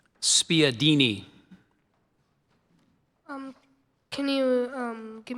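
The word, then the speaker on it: spiedini: Desireette is spelled D E S E R E T. Spadini.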